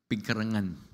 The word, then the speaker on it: Pigcarangan: Kana lang pag-pronounce sa inyong lugar, lisod na. Pigkarangan.